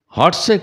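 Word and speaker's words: Lhatse: লাটসে বিমলবাবু ইংরেজি উচ্চারণেই লিখলেন। তিব্বতীরা লটাকে প্রায় উজ্জ্ব রাখে, অথবা লকে হসন্ত হিসাবে অস্পষ্ট বলে। হটসে কথাটাই কানে লাগে, যেমন লাহাসা মানে লাসা।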